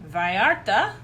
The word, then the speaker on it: Vallarta: Let's go to Vallarta.